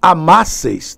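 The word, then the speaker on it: amásseis: Se vós amasseis, novamente, acento no A da vogal temática.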